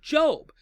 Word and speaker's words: Job: to good people right and the book of Job puts forward this scenario whereby there's a gentleman